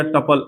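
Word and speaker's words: tuple: ट्यूपल बोलिए या टपल ऐसे तो प्रॉपर प्रोनाउंसिएशन टपल होता है लेकिन हम लोग कभी भी कुछ होता है तो हम लोग ट्यूपल भी बोल देते हैं टपल भी होता है लेकिन करेक्ट इसका उच्चारण टपल है ठीक है अब आगे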